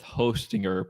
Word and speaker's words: Hostinger: Ho is it Hostinger? Yeah. Yeah. what you're going to say. Um, I'd probably go with Hostinger because they're using Lightseed um to power everything.